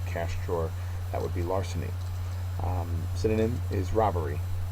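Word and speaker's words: larceny: word number 13 uh it's a noun first syllable is accented and it just means theft so you see somebody taking money out of a cash drawer that would be Larsen um synonym is robbery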